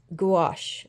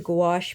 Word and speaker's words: gouache: I ended up doing was taking watercolor and gouache I think that's how you say it it's spelled g u a c h e the